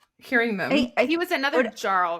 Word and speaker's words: Jarl: Okay, I think they're called Jars. Jarls. Like Jarl.